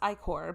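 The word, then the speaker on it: ichor: and actually supposed to I heard it's supposed to be pronounced i-core but whatever I say I prefer icker um there's just nasty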